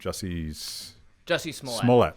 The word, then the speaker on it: Jussie Smollett: Jussie Smollett.